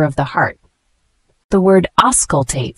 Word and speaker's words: auscultate: The word auscultate, spelled A-U-S-C-U-L-T-A-T-E. It's a verb, pronounced auscultate.